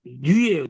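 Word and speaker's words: ν: 그 다음 글자는 영어의 N자 같이 생겼는데 이게 뉘예요. 뉘. 뉘. 이거는 첫 글자가 어떻게 됐습니까? 지금 첫 글자가 니은이잖아요.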